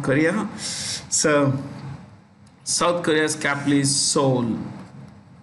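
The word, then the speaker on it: Seoul: so south korea's capitalist soul the e is silent the president is moon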